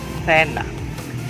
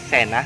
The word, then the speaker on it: cena: And as you have noticed, I pronounced the first word, which is cena, supposedly cena, but I pronounce it like cena, because in Castilian Spanish, the letter C or the C, if followed by the letter E or the letter I, sounds like the letter TH in the or thanks.